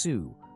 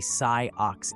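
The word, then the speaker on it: Sioux: flushed and said well maybe it is pronounced Sue but I know there is a Sai Ox Indian good grief I learned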